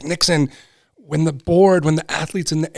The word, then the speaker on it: Nixon: And I was afraid people would pronounce it differently. Nixin, it just didn't roll off the tongue. And the fact that it was Nixon with the O, it was so odd for people.